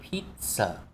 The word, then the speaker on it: pizza: A take-away pizza. A take-away pizza. Đúng rồi. Chỗ này chúng ta đọc là pit. Chúng ta có âm tợ giữa pit rồi sờ.